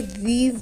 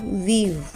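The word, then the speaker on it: we've: आउट of hand wash वी have को जब combine करके लिखते हैं तो इसे वीव प्रोनाउंस करते हैं वीव आज मुझे जॉगिंग करने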